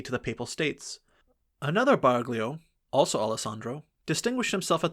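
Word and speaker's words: Baraglioul: The Barglio, the GL is pronounced Italian fashion as in Brogley, the Duke of and in Milgionire, came originally from Parma.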